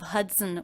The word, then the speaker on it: Hudson: River the Hudson River did you notice how the second an unstressed syllable of Hudson was pronounced it's written with a letter O but there's the schwa vowel in there as an unstressed syllable it's very fast sunson and when the schwa is followed by the end you don't need to worry about making a separate schwa sound it gets absorbed by the end cincin sense and